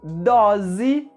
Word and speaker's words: dose: E dose, com a letra O aberta, a letra S com o som da letra Z e também a letra E com o som da letra I no final da palavra.